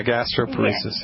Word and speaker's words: gastroparesis: Well, I have several customers who have gastroparesis. Is that how you pronounce it? Oh, gastroparesis? Yeah, gastroparesis.